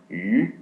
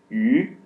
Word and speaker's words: 鱼: in the Chinese character, fish is pronounced 鱼, and this pronunciation is the same as abundance.